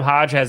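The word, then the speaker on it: Hoge: I got Adam Hodge or maybe it's Adam Hodge. This one? Adam Hogue. Is that how you say his name? Adam Hogue? Yes, sorry. Hogue.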